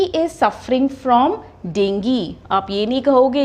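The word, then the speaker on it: dengue: miss pronounce word है हम इसको बोलते हैं डेंगू डेंगू फीवर अब अगर अगर आप इस वर्ड को ध्यान से देखो यहां पर भी किस में एंडिंग हो रहा है जी यू ई और हमने अभी-अभी क्या किया है जो वर्ड जी यूई में एंड हो रहा है उसमें यह पार्ट क्या हो जाता है हमारा साइलेंट तो इसकी प्रोनंसिएशन क्या है डेंगी तो इसकी करेक्ट प्रोनंसिएशन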